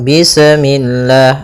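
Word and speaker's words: بسم الله: Pada bacaan bis ini, sempurnakan huruf sinnya. Ketika sinnya sukun, ini ada sifat saofir. Dia harus kita alirkan nafasnya. Bis. Nah, seperti itu sempurna baru baca mi. Bismi. Bismi. Usahakan jangan sampai memantul.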